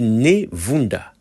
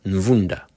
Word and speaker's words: Ne Vunda: En fait, c'est écrit Nevunda, mais à mon avis, ça devrait sûrement être Nvunda.